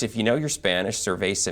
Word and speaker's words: Ser-Veh-Zah: Now, of course, if you know your Spanish, Ser-Veh-Zah means beer, but it's spelled differently, as you're going to see there. So. I think they decided to go with the phonetic spelling so that we could all appropriately pronounce the new tap room that's coming here in the Arts District.